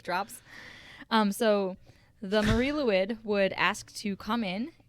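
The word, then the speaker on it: Lwyd: i didn't it's yeah it's spelled l l-w-y-d so i get why that's yeah yeah it's also welsh and so their vowels don't make the same noise as our vowels ain't that the truth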